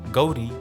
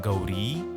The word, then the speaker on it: Gauri: Almost all Indian female names would actually end in a longer syllable of A or E called Dirgha Swaras. For example, the name Geeta would in fact be Geeta. Gauri should have been Gauri and Prabha should have been Prabha.